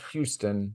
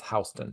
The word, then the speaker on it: Houston: to learn it's not it's not Houston which I grew up in Texas so I'm like oh that's Houston and everyone's like no no that's HST street but apparently oh sorry